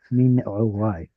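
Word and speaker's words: מנעורי: Mi ne'urai. But nobody pronounces ayin that way anymore, so we'll just say mi ne'urai.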